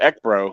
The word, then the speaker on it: ECBRO: as you mentioned earlier that's exactly how i pronounce the uh you know the initials ek bro it's basically how it